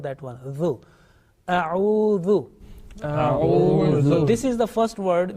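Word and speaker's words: أعوذ: Again, zal, soft and thin, not mingling, not mixing with the sound with the buzzing sound like za. Okay, atuz zakat, not that one. Zu. A'udhu.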